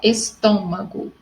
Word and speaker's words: estômago: Igual aqui, ó, estômago, tá? Obstáculo, toda proparoxítona são acentuadas, tá? E sempre a sílaba forte está na terceira sílaba, contando da sua direita para a esquerda.